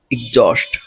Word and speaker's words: exhaust: এটার প্রোনাউন্সিয়েশন হবে এক্সজস্ট।